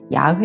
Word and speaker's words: 야훼: 구약 성경 에서 하나님 을 지칭 하는 가장 흔한 이름 은 여호 와 입니다 . 하지만 여호와 의 실제 발음 은 야훼 에 더 가깝습니다 .